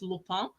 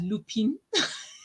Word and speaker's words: Lupin: it like that but i'm trying to pronounce it the right way is lupone um but some people probably read it as lupine so maybe that might